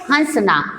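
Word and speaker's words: हँसना: तो अपन नाक से जो उच्चारण मुंह से करेंगे वो सही शब्द है हंसना।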